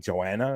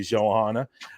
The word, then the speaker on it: Johanna: They couldn't find records of the Johanna, which I was saying her name wrong all night. I was saying Joanna. It was actually Johanna.